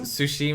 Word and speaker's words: Tsushima: Tsushima, man. Tsushima, like T sushi. is silent.